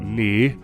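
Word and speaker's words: nǐ: the syllable knee and then we have the tone which is third tone we join this together we've got knee which is how the syllable officially sounds let's have a look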